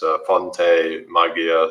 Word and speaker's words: Fonte Magia: So it's Fonte Magia. So it's spelled FONTEMAGIA.